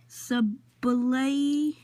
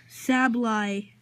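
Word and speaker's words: Sableye: Sublay. How do you say him? How do you say that? Just guys, he doesn't know how to say it, so. Sablay.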